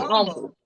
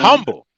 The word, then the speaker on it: humble: You said humble. No, man. Humble. No, man. It's humble. Not doing that today. Okay. The H is silent.